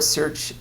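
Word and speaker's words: certiorari: Um there's my the the Supreme Court searchari is how you pronounce that.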